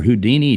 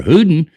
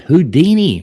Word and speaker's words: Houdin: that be one for Houdini two for hudin three for foster four for Copperfield like why you put hudin in there I think that's actually pronounced houdin houdin sorry that's probably the answer